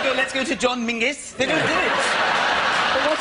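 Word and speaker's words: Menzies: Ginger bger it's a in fact you should pronounce it John mingis apparently it's to do with a defunct Scottish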